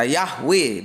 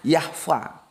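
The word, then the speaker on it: Yahweh: Ada yang baca Yahwe itu kalau aku tanya pakarnya katanya itu seharusnya bacanya Yahva gitu ya.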